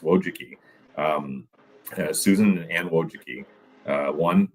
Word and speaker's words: Wojcicki: Don't ask me to spell it, but it's pronounced Wojcicki.